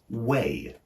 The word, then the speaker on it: weigh: way to the station which has the exact same pronunciation as the verb weigh we i g h